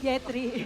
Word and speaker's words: Yetri: YP itu Yetri. Kalau Yep ada di situ Coach Yep. So ya. he mispronounced Yetri for Yeb.